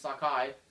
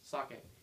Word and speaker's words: sake: Pronounced it right. I used I started saying it's sakai. That's wrong. Don't say it's not like Eugi Sakai. It's sake.